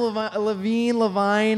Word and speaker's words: Levine: What you may you use an Adam Levine?